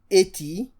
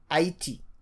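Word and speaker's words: Haïti: So instead of Haiti, this tréma helps us to pronounce this as I, E, Haiti.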